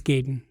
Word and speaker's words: Gaiden: pronounce it it's nice I've heard it both Gaiden hand guide it's Gaiden okay yeah but I thought it was guiding when I was a kid yeah I loved that